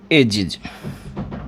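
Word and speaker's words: edges: और जब इन 6 में से कोई सा भी साउंड यदि आपके पास आता है और आप उस वर्ड में एस या ई एस ऐड करते हो तो उसमें जो प्रोनाउंसिएशन है वो हमेशा इज होगा।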